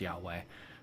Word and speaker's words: Yahweh: hwhs okay yeah so it's actually the contraction pronounced yahweh but it's i am that i am if